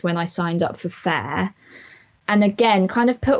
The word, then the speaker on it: Faire: in sales just through fair this year so far wow and when uh we should say everyone fair is spelled f-a-i-r-e and it's an online